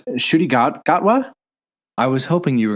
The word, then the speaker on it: Ncuti Gatwa: He's got a name that it's hard for me to pronounce. Ncuti Gatwa? I was hoping you were going to pronounce it because, I can't. Yeah, I think it's Ncuti Gatwa.